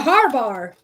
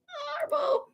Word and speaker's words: Harbaugh: A harbar. Harbar. A harbar. I said it again. Harbar. Harbar. Jim Harbaugh and John Harbaugh. Harbaugh.